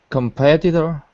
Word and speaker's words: competitor: remember yeah competitor yeah so in American English the t is a d like dog competitor competitor that's it that's it so if you try to enunciate the t's it could slow you down so we just soften them and make them sound like a d or we just take